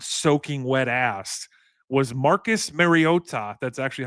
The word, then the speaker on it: Mariota: What if I told you that behind Jaden Daniels 189B soaking wet ass was Marcus Mariota?